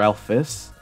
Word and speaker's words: Alphys: all Alfie's name uh you can pronounce it as either ales or Alice uh it might be easier to pronounce it Alice because you know whenever Alfie is plural or like whenever Alf Alfie's name is is possessive then it'll be Alphas instead of alfes which is a bit harder to pronounce second all I think